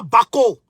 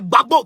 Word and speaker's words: Gbagbo: pour aller c'est pas Baco c'est pas Baco c'est Gbagbo Gbagbo Koné GBA GBO Koné là ils ont du mal à prononcer Gbagbo donc voilà les les